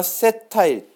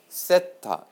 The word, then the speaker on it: 세타: 세타. 여러분 세타 요거 처음 보시죠? 동그라미에 이렇게 붙여준 거야. 이게 졸라맨 머리 같죠? 세타. 아시겠습니까? 네, 잘못했어요. 이걸 세타라고 읽고요. 세타, 번디기 발음. 세타라고 읽고요.